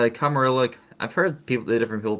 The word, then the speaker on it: Camarilla: It's Camarilla. I've heard different people pronounce it differently.